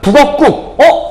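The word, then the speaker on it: 북엇국: 발음하니까 북어국. 선생님 니은 없잖아요. 아까 우리 뭐라 그랬어? 니은 소리 안 들어가더라도 뒤에 말 발음했을 때 북어국이라고 된 소리 발음되잖아.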